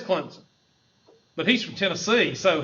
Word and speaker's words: Clemson: SI i n Clemson they won't say Clemson because they're associated with us rednecks so they go out of their way to pronounce it clemon listen you got to